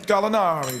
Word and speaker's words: Gallinari: Gallinari.